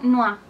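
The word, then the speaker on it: noix: Otra palabra, por ejemplo, noa, que significa nuez. Noa. Entonces ya lo tenemos. O, I, se pronuncia ua.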